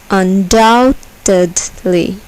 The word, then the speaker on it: undoubtedly: Undoubtedly. Behold. Behold. Here, the second syllable is accented.